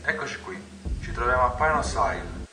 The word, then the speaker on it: Pinos Isle: Ci troviamo a Pinos Isle, che, non usando un accento inglese, Pinos Isle, ricordatevi Pini, se volete.